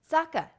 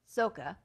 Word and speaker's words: Sokka: Sokka, not Soka.